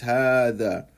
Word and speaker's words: هذا: One thing to also pay attention to is how is هذا pronounced and written. I write هذا like this, but I pronounce it like this. هذا. However, we don't write this.